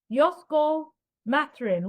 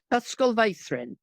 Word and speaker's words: Ysgol Feithrin: I helped establish a local, I can't pronounce this, Ysgol Matrin. What's that, please? Ysgol Feithrin.